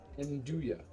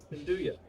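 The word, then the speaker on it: 'nduja: Okay, so Dan in the chat has given us the correct pronunciation for Nuja. It's Nduja. Nduja.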